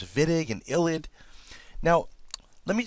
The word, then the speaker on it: Wittig: It's spelt Wittig, W-I-T-T-I-G, but it's pronounced Wittig, as if it was a V, okay?